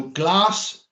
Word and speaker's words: glas: So glass, and that's pronounced like the English word glass for blue.